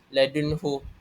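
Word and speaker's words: لَدُنْهُ: Dan contoh yang terdapat dalam surah al-Kahfi ayat satu dan dua ini ialah ladunhu nun sakinah bertemu dengan huruf iz halki iaitu ha. Jadi hendaklah dibaca jelas.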